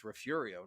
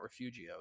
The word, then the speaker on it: Refugio: oh well actually partner that's that's refurio not refugio things like that it